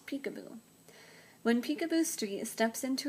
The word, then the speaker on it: Picabo: It's pronounced like the name of a game you play with babies, Picabo.